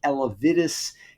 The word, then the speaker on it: Elevidys: And that is a drug, I'm pronouncing it as Elevidys.